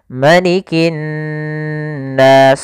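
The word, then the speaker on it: مَلِكِ النَّاسِ: Hati-hati jangan memanjangkan ma. Kadang ada yang dia menghafal, disebabkan karena menghafal karena mungkin mirip dengan lafal malik, ya maaf, maliki yaumiddin. Ma-nya panjang, betul. Tapi di surat An-Nas ini ma-nya pendek. Malikin nas.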